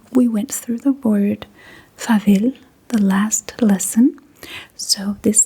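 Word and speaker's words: farvel: And when saying goodbye to someone, you can say fav, you can also say vis.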